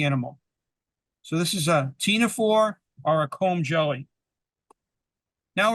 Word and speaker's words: ctenophore: It's called a ctenophore, CTEPHONE, CTENAPHORE, ctenophore. The C is silent, or a comb jelly, COMB jelly.